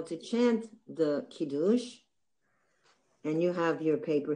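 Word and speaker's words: קידוש: And actually the word is not Kiddush, it's really Kiddush. Talk about where the accent is. It's on the last syllable, Kiddush.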